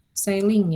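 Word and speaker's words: ceiling: Nah, ini kita bacanya sailing ya.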